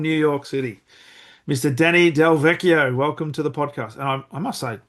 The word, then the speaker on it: DelVecchio: Oh, it's Delvetio every time. Delveetio they pronounce that it that ch that No, it's the two C's. If it was it's the two C's that make it Delveio.